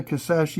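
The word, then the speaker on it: Kisatchie: national park going state in one state Louisiana kasashi National Forest please see anybody who watches these videos don't not pronounce that you do now because I've seen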